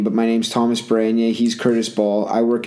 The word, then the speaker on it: Tomas Baranyai: Yeah, so he just butchered my name, but my name's Tomas Baranyai.